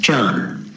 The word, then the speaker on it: Chan: I should quickly mention here as a historical remark, when Buddhism went to China, Dhyan was not translated, but was just pronounced in a Chinese way as Chan.